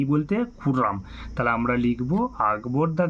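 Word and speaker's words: Khurram: বাজারে গিয়েছিল লিনা বাজারে গিয়েছিল মিনাবাজারে গিয়েছিল তাহলে খুররাম ওয়েন্ট টু দ্যা কি হবে মিনাবাজার তাহলে উত্তরটা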